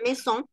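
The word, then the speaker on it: maison: la palabra Mesón y Mesón en francés escrita diferente escrita ma y son pero pronunciada mes son significa casa Okay entonces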